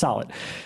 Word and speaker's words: Solet: And they're like, he's like, no, it's Solet.